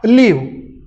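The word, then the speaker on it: live: लिव्ह उच्चार होईल LIV. लिव्हिंग things, लिव्ह in relationship, लिव्ह LIV. Spelling same आहे बरं का, LIV. आता लाईव्ह उच्चार आहे, मॅच इज लाईव्ह. लाईव्ह याला अ लावला तर अलाईव्ह ॲडजेक्टिव्ह तयार होईल, अलाईव्ह. लाईव्ह, लिव्ह spelling same बघा, स्पेलिंग सेम आहे, मिनिंग अँड प्रोनाउन्सिएशन डिफरंट आहे.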